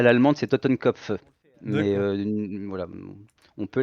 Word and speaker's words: Totenkopf: non, si on le fait à l'allemande, c'est Totenkopf. Mais d'accord. voilà, on peut la prononcer à l'allemande d'ailleurs, ça aurait du sens, puisque c'est un Ok.